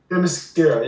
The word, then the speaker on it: Themyscira: Themyscira. Themyscira, yeah.